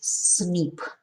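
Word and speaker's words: SNP: a single nucleotide polymorphism or cnp pronounces snip scientists are studying uh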